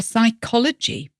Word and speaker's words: psychology: Words like write, writ, so that has a silent W, or psychology, which sounds like it should begin with an S, but actually begins with a P.